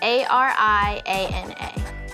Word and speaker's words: Ariana: makes me feel kind and bright my name is spelled a-r-i-a-n-a ariana the first part of ariana is ari